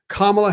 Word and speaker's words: Kamala: going to say this it is Vice President Kamala Harris kamla Harris I GNA say it right kamla Harris it is her birthday today she turned